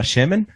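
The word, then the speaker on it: שֶׁמֶן: qué es el aceite aceite es la palabra shemen shemen tiene que ver con aceite pero hay otra palabra que se escribe Exactamente igual es shamen Y eso es gordo tiene que ver con con grasa sí a shamana es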